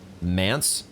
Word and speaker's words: Manse: And also we set foot into Midra's Manse. Apparently, ChatGPT tells me it rhymes with dance.